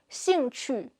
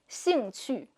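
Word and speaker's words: 兴趣: Her 'j/q/x' sounds are great when followed by an 'i', but when followed by a 'u' sound, they sound a bit more like 'zhu/chu/shu.' 'Xingchu.' (Oriental Pearl speaking Chinese) 'Xing qu.'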